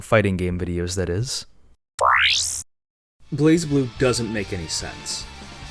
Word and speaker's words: BlazBlue: game videos that is blaze blue doesn't make any sense despite stylistically missing the E you're required to toss aside your understanding of the English language and simply accept the pronunciation is blaze blue it's the strongest ringing